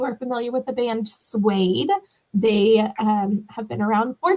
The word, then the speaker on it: Suede: Have you been to a Suede concert? No. Is it spelled like the fabric?